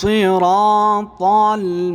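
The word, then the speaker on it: الصِّرَاطَ: ইহদিনাস সিরাতাল মুস্তাকিম। মাশাআল্লাহ, একসাথে ইহদিনাস সাদকে আমরা মোটা করে পুর করে পড়ব সিরা এইভাবে সিরা রর পরে রর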